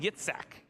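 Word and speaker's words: יצחק: And as you say it in Hebrew, kind of a way to say it, Yitzhak.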